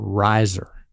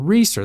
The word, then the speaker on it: Reeser: meet a new person they call me Mr Riser but she actually called us Mr reer that's the name we pronounce it not that actor fellow so how how do